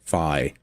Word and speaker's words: Fi: that fee even exists fi I'm sorry I have to break that habit fi okay I I'm I'm sorry I've said fee my entire life since I've known about